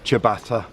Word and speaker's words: ciabatta: anomalies argument the latin ciabatta chiasa there you go that's it in a nutshell it's latin so the italian for ciabatta is a c but you pronounce it cha whereas chievo is ch